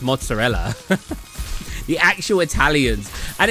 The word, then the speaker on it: mozzarella: I like the uh videos where you'll see like Italian Americans say like uh it's mozzarell instead of mozzarella, but then you'll see Italians like Lionfield for example be like it's pronounced mozzarella.